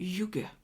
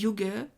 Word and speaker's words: hygge: yug qu'est-ce que le yug alors on dit yug j'ai vraiment cherché la prononciation mais ça s'écrit IG h y de G e c'est danois à la